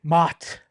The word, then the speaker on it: Mat: It's spelled Surprised the they way didn't it mispronounce says. Matt since he only used one T. Mott.